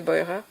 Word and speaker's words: Beurer: Euh al je sais pas si on dit Burer en français mais je pense qu'elle doit se prononcer Boyer.